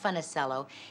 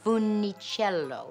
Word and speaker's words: Funicello: And he said, first of all, young lady, you are mispronouncing it. It is not Funicello, it's Funicello.